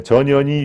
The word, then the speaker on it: 전현희: 예, 전현희 예, 항상 발음이 주의하셔야 됩니다. 예, 전현희 위원장하고 똑같습니다.